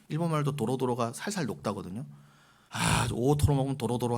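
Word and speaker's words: 大トロ: 여러분, 혼마구로의 제일 그 비싼 곳이 오토로예요. 오토로. 우리나라의 사람들이 발음이 잘 안 되고 오도로 그러세요. 오도로. 너무나 촌스러운 발음입니다. 혼마구로의 오토로.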